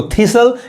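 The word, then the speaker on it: thistle: उसी तरह देखिए इसको थीसल, ये क्या है, कांटेदार पौधा।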